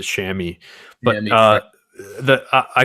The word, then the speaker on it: chamois: a different way but we always pronounce it shammy but uh the i